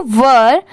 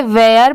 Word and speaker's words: were: हु वर, WERE, वर. बहुत सारे लोग इसे वेयर पढ़ते हैं बट वो रॉन्ग होता है. इसकी करेक्ट प्रोनाउंसिएशन है वर, WERE, वर.